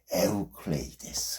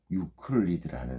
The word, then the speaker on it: 에우클레이데스: 에우클레이데스. 어렵죠? 에우 클레이 됐습니다. 이거 영어식 발음이 더 유명해요. 뭡니까? 유클리드라는 사람이죠.이 사람은 기약 수학자였다는 거.